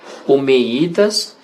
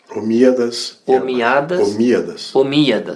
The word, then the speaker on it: Omíadas: Uma vez eu falei sobre, se eu pronunciar errado, me corrige. Omeidas e Abássidas. Omíadas. Isso.